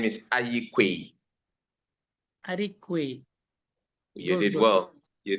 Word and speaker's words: Aryeequaye: My name is Aryeequaye from Ghana. I am Can the you secretary. pronounce the second name of yours? The second name is Aryeequaye.